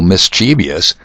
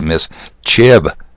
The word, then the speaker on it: mischievous: For example, mischievous is pronounced just the way I said it, but the correct way is mischievous.